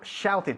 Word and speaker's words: shouted: Ahí hay que pronunciar la E. ¿Ok? Al final de la ed. I shouted. ¿Por qué? Porque el verbo en sí acaba en la T, una T.